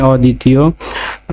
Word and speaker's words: অদ্বিতীয়: অদ্বিতীয়, প্রমিত উচ্চারণ হবে স্বরীয়, দয় হসন্ত, দয়সী, তয়সী, অন্তস্থ অকার। অদ্বিতীয়।